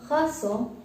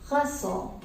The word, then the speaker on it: garçon: This gives a soft C sound to the word garçon.